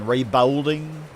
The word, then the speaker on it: reballing: know what you're saying reballing re ball bowl like like a bowl a football bowl reow re yeah reball